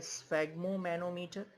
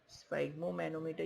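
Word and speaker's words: sphygmomanometer: Okay students, तो ये तो था जैसे आप लोगों के मेडिकल साइंस में यूज होता है स्फैग्मोमैनोमीटर, स्फैग्मोमैनोमीटर। ओके स्टूडेंट्स, स्फैग्मोमैनोमीटर या स्फिग्मोमैनोमीटर जैसा प्रोनाउंसिएशन करें।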